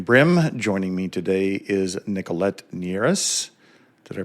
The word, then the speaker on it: Nicolette Nierras: Joining me today is Nichollet Neras. Did I pronounce that correctly?